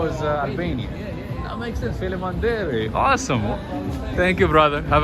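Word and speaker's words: faleminderit: Felimanderi. Just like Albanian, same thing. Yeah, same language. Oh, because you guys, same 90% of Kosovo is Albanian. That makes sense. Felimanderi.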